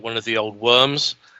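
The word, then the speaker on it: wyrm: It kind of looks more like one of the old worms. Spelled WRYMS, not WOR. So that's right. That's quite right. A worm. A worm. Worm.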